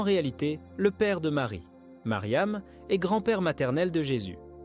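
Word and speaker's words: مريم: Marie, comme vous le savez, se prononce en arabe Mariam.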